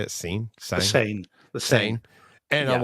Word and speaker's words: Seine: Seine.